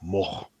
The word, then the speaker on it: Moog: with him in it, he pronounces the real Dutch pronunciation, which is what? more like moch, moch.